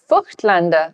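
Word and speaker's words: Voigtländer: Nan ZM lenses indeed now F Lander lenses as it's supposed to be pronounced yeah do not overlap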